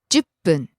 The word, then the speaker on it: 10分: 10分10分 Falls after the ju, stays low. 10分 Next, ぐらい about.